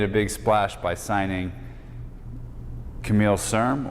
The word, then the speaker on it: Camille Serme: big splash by signing Camille Serme, or Camille Serme, if you want to have the proper French pronunciation, at least as far as I know, Camille.